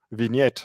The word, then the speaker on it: vignette: you say that it's a French word actually vignette yes vignette in French yeah it's on the